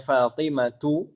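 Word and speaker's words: فاطمة: Kita bacanya Fatimatu tidak tanwin, padahal tidak ada al-nya. Betul. Betul. Santuna. Kenapa kok seperti itu? Karena ism ghairu munsharif atau mamnu' min as-sarf. Sebabnya apa? Isim alam tak marbuto.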